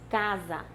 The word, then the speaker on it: casa: que diz que e essa consoante s entre vogais tem som de z então nós escrevamos casa